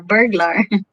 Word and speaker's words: burglar: pronounce it burglar grocery like burger you know you like burger milky burr and then glar burglar burger a bug sorry